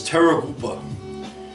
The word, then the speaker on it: Terrorgruppe: The proper German pronunciation is Terrorgruppe, but as we know in the United Terror Group, okay?